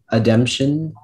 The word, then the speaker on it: ademption: This word has a couple alternate pronunciations. There's ademption, ademption, ademption, ademption.